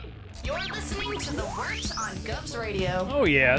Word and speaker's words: Wort: The wort? Yeah, okay, I'll do that again. This is The Wort on Govs Radio. It is the Wort. Not wart, not fort, not short.